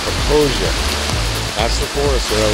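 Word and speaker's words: Popo Agie: Some people call it the Popo Aggie. It's pronounced Proposia.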